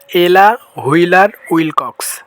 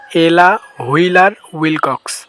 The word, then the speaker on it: Ella Wheeler Wilcox: তাহলে আমরা এখন একত্রে বলি এলা হুইলার উইল কক্স আবারো এলা হুইলার উইল কক্স এলা হুইলার উইল কক্স তো আশা করি নামটা উচ্চারণ করতে আর সমস্যা হবে না তো আজকের